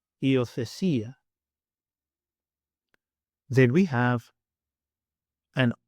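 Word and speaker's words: υιοθεσία: makes the sound I, as in the word see, see. And the Greek example, iothesia, iothesia.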